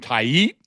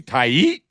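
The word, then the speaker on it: Tait: And I know that the guy Mick Abel was a first round pick, and I just learned how to pronounce this guy's name, Taiit, which is say it with me, Taiit. Taiit.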